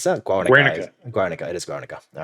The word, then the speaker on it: Guernica: I would say I always forget how to exactly pronounce it. Masterpiece by Pablo Picasso. Is that Guernica? Guernica. It is Guernica.